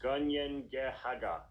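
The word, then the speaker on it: Kanien'kehá:ka: The Mohawk name for their nation, meanwhile, is pronounced Gunyengehaga.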